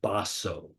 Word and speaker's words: Baso: the early Zen Masters Matsu or in Japanese pronunciation baso he lived in the